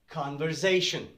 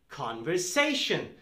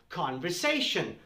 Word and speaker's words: conversation: mistake it's not not conversation there is no z sound it is conversation so this one when you pronounce the word when you say the word it's an s sound conversation conversation conversation there's no